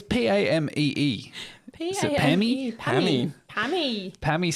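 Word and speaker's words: Pamee: It's spelled... it's P-A-M-E-E. Is it Pammy? Pammy.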